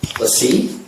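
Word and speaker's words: LaCie: Oh, Lassie? I thought it was Lacey. Lassie? Well, no, it's It's Lassie. It's French. Which We're is it, talking about the guys? hard drive? Lassie. Is it Lacey?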